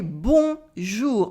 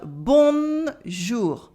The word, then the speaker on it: bonjour: disappear it's not there for example we say bon jou not bon jour we don't say bon jou we say bonjour and it is okay